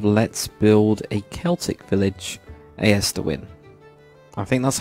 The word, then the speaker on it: Aerstwyn: build a Celtic Village as to win I think that's how I'm going to pronounce it as to win I guess but um yeah so